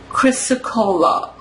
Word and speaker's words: chrysocolla: Hold on, I want to see how it's pronounced. Chrysocolla.